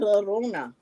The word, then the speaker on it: Llorona: She almost reminds me of La Rona. Right. Did I pronounce it 30. right? Yes. La It's Llorona.